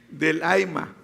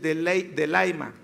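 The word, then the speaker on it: θέλημα: Fíjate, la palabra en voluntad en griego es telema, pero se pronuncia, bueno, yo no pronuncio bien el griego, pero lo voy a intentar, siempre me sale mal. Delaima. Telema se escriba, telema.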